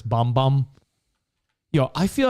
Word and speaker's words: Bam Bam: and camila cabello bom it's spelt bam bam but it's bom bom yo i feel like